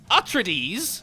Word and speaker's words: Atreides: Atreides you trittyes says it's pronounced atre DS who trees get it